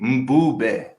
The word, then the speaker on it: Mbube: Okay, it's spelled Mbube, and you say Mbube. It's a Zulu word. Mbu. Mbu is the Mbu. Yeah. Mbu. Exactly, and then the be at the end is be.